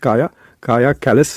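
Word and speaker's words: Kaja Kallas: तो इनका नाम है काया लिखते हैं लेकिन इट्स प्रोनाउंस काया कैलिस है।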